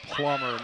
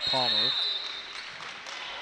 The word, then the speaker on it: Plummer: It's Plummer, not Palmer.